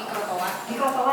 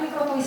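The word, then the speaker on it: microtoise: Mikrotoa ya, jangan mikrotois bacanya, mikrotoa. Nah kemudian ada yang familiar juga dengan ini, pita lila ya.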